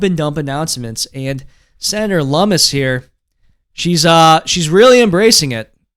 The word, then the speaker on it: Lummis: Lummis, by the way, I've been mispronouncing her name. I only found out just this week that it's Senator Lummis, not Lummis.